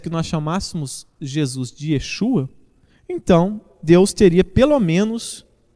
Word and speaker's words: Yeshua: Jesus não é Jesus, que a pronúncia correta, o nome correto de Jesus é Yeshua e que devemos chamá-lo de Yeshua Ramashia, né? Essa talvez seja a pronúncia correta da época, pois naquela época eles